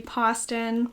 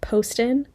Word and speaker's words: Poston: since found out that it is pronounced Poston, not Poston. I continue to say Poston several times throughout this video, but it is not Poston, it's actually Poston.